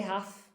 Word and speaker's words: half: And he said, why did you say half? Why didn't you say half? And I said, oh, because the L is silent in, in half.